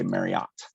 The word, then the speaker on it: Marriott: and it is Mary it rhymes with Chariot according to Debbie Marriott herself um I think all the commercials even say Marriott um so our Best